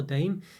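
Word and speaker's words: Daim: Did the dime as well, or dame, everyone's pronounced it. So dime, I think, really, isn't it? Used to be spelled D-I-M-E, but now it's D-A-I-M.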